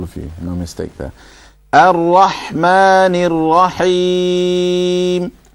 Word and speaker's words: الرحمن: Ha in Rahman Ar-Rahim needs to be clearer, sharper. Rahma, it sounded a little bit like a small, like the lighter, smaller ha.